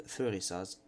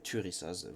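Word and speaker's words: Thurisaz: Alors une Thérésaz, il y en a d'autres qui appellent Turissaz, vous l'appelez comme vous voulez. De toute façon, la vraie prononciation, on ne l'aura jamais. On n'aura jamais exactement puisque tout a été effacé par l'Inquisition et autres, mais bref.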